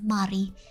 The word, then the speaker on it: Mari: But the way we pronounce Mary in Indonesian is Mari.